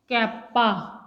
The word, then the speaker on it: kappa: कैप्पा। ठीक है, कापा या कप्पा जो भी आपको बोलना